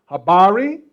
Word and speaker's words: habari: swahili this evening okay the first phrase is pronounced uh habari and you see there's a question mark there